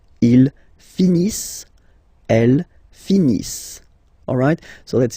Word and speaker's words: finissent: Ils finissent. So remember, as usual, when we get the verbs E-N-T not pronounced. Ils finissent.